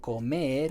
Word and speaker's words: comer: I say, okay, this person says to me this word comer means eat, to eat. Comer. Comb. It sounds kind of like comb. It kind of sounds like Ed, the name Ed, comb Ed.